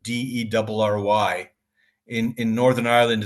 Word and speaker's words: Derry: a TV series called Dairy Girls. Not dairy as in dairy products, but Derry.